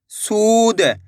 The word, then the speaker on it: सूद: सा में बड़े ऊ की मात्रा है सू द, तो मिलके बन जाएगा सूद। कैसे पढ़ेंगे? सूद। ऐसे नहीं पढ़ना, सूद। कैसे पढ़ेंगे? सूद। खींच के पढ़ेंगे।